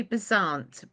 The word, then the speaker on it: Beasant: How do you pronounce the name, please? Well, I think it's got a French undertones. We say Besant, but the way it's Oh, spelled is Besant.